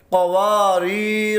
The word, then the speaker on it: قواریر: وصل کی صورت میں۔ ہم نے اسے کیسے پڑھنا ہے؟ قاف زبر قا، واو الف زبر وا، قوا، را یا زیر ری، قواری، را زبر را، قواریر۔